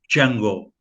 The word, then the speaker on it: Django: Aí ele responde, Django. E aí o Franco Nero diz para ele, você pode me soletrar? Aí ele soletra. Aí ele diz assim, o D é silent, o D é mudo.